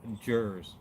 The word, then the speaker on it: Jerz: And by the way, my name is pronounced Jerz, like, you know, Jersey without the EY. Some people say like Jerz, not an extra E. It's just Jerz.